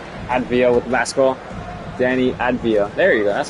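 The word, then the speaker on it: Avdija: Danny Advia. There you go. That's how you pronounce it.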